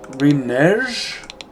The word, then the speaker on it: renege: Too late to renege? What's the correct pronunciation of that word? That's a weird word. It's spelled renege, but everyone pronounces it reneg.